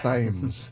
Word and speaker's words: Thames: It's like you probably say the River Thames. Yeah, it's Thames.